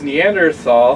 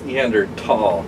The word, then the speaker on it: Neanderthal: He just posted his Neanderthal. He did. And I like to pronounce it with a T. And I hate how he pronounces it because he always goes Neanderthal.